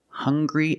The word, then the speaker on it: hungry: have these two words hungry and hunger they also make the same sound with the nasal sound and the hard G hunger hungry remember the difference hungry